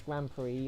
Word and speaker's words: Grand Prix: gp race so that's grand prix or grand prix how's it spell but it's spelt pricks but they say pre it's like that's one